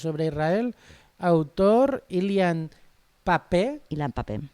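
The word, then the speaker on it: Ilan Pappé: Israel autor ilian papé Ilan papé con la primera es una p Y luego vienen dos PS y un acento en la e la traducción es de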